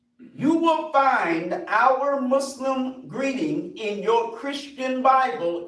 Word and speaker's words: Muslim: The proper way to say what we are is Muslim. But you can't say Muslim or you won't say Muslim. It's Muslim.